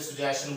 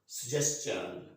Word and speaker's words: suggestion: टू द सजेशंस, इसमें आप आम तौर पे सुजेशन बोल देंगे, सुजेशन, बट इस pronunciation is नॉट सुजेशन, it's correct pronunciation is suggestion, suggestion।